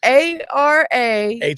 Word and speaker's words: Arapahoe: It's spelled for those. Well, let me spell it out. Smack-a-ho, duct tape-a-ho. Well, I was thinking one too. Those raps that you get from It Works. Yeah, rap-a-ho. It works. This is how it's spelled.